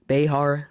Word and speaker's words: Bexar: Actually, Bexar, you could pronounce it Behar, whatever you want, really.